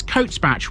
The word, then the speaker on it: Cotesbach: This place has got Bache in its name, but round here you don't pronounce it as Bache, you pronounce it as Batch.